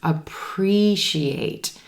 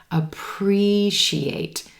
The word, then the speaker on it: appreciate: natural another tricky one appreciate appreciate we've got four syllables in this word emphasis is going to